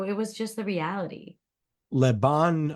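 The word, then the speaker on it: Le Bon Marché: was just the reality leban I hope I'm pronouncing this right Lebon Marche is that right excellent yes perfect 1838 Paris um where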